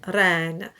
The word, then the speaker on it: reine: So you just go at it very lightly, just one flip, reine.